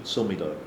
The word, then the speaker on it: Silmido: Silmido? Oh, sorry, my pronunciation. Silmido.